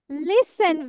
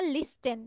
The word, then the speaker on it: listen: অ্যান্ড আই ক্যান লিসেন, এখানে টি আছে যদিও, কিন্তু আমরা টিটা উচ্চারণ করব না। এখানে কেউ আমরা বলবো না লিস্টেন, লিস্টেন বলবো না, আমরা কি বলবো?